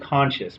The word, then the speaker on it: Conchis: Interestingly enough, like I pronounced it Conscious, but his name was spelled Conchise. I just said Conscious.